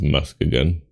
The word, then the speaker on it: Muskegon: I've never heard of Muskegon. That's how it's pronounced.